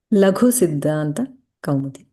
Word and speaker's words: Laghu-Siddhānta-Kaumudī: How do you pronounce it? Laghu-Siddhānta-Kaumudī.